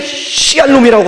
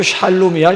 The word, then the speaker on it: 샬롬: 인사말이 있음에도 뭐 때문에 시알롬이라고 하면서 서로 그렇게 인사를 하느냐고. 그래서 한참 웃은 다음에 시알롬이 아니고 샬롬이야, 샬롬. 옆에 있는 분들하고 한번 시알롬이라고 하지 마시고 샬롬이, 그 발음 샬롬을 잘 하셔야 돼요.